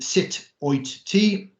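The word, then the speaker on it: Sut wyt ti: together phonetically um so sit oi as in when you shout at someone sit yeah how are you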